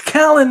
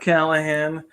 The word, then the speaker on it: Callan: It's Callan, not Callan. It's Callan. I did not spell my last name wrong. Triple E. It's Callan. It's not Callahan.